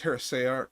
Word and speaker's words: heresiarch: It's heresiarch. It's not psi or c. It's say, but it's a weird word.